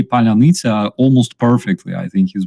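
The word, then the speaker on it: паляниця: in March 2022, I taught him how to pronounce Palyanica, because we use this word to, identify Russian spies. And it took him some effort, like for real, but he could say Palyanica almost perfectly.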